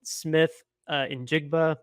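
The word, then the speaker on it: Smith-Njigba: One that I'm particularly interested in, Jackson Smith in Jigba. I believe that's how you pronounce his last name.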